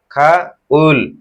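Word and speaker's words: 가을: riyal তাহলে কি হল গাউল কিন্তু গ যদি শব্দের শুরুতে আসে তাহলে সেটি কিসের মত উচ্চারিত হবে খ তাহলে কি হবে খাউ খা উল তাহলে কি হবে খনি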